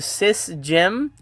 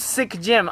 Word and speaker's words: Sick Gym: I've been calling you sis Jim, but when you commented on uh Lady Shasha's voyage, she called you sick gym and I'm like, "Oh, fuck." It is sick gym.